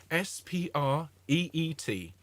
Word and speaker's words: spreet: We sing in the spreet. Okay, S-P-R-E-E-T.